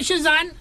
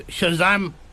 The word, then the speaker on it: Shazam: Shazan. Sorry. Not not Shazan. I've just I was just playing with you. Embarrassing myself there. Get your name wrong. It's not Shazan in it. It's Shazam.